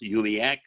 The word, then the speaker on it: UUMUAC: multiracial unity action council yumiak pronounced yubiak aka the mack our